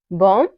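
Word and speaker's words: bomb: वहां पे साइलेंट होगा जैसे है एग्जांपल कॉम बम थम डम यहां पे जितने भी वर्ड है इन सब में क्या आ रहा हुआ है इन सब में एम के बाद बी आ रहा हुआ है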